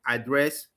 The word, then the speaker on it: address: Some Nigerian speakers of English overgeneralize this rule and extend it to words like address, mistake, which are pronounced with the stress on the second syllable for both nouns and verbs.